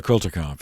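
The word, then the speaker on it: Kulturkampf: equity fairness and justice for all so the quilter conf it's a it's a german term that's generally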